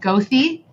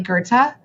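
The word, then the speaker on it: Goethe: Like like Gerta, like the street in Chicago that's spelled gothy, but it's really Gerta.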